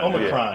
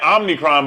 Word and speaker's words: Omicron: Omicron. Yeah. They keep saying Omnicron, but there's no N in it, right?